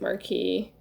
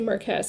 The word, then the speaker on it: marquess: the mystery is solved marquess is the anglicized version of the french word marquis which is why it looks which is why you want to pronounce it marquee at least i want